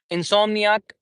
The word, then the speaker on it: insomniac: So when we say syllables, we have four syllables in insomniac. insomnia. Okay. So when we say insomniac we have in that is first syllable and how do